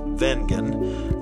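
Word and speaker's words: Wengen: my two favorite places of Switzerland um now vengan is spelled with a W but it's actually pronounced vegan the Swiss people pronounce it that way it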